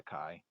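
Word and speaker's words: χ: letter a pronunciation is not quite right but for math problems we'll need to stay consistent we'll stick with the chi the chi-squared distribution is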